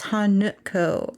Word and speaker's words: Hanako: The N-A, in Hanako is actually pronounced nu, like a nut. So it's Hanuko.